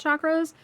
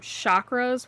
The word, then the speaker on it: chakra: didn't know much about chakras. I used to actually pronounce them chakras which a lot of people do but it is actually pronounced chakra the way it's spelled.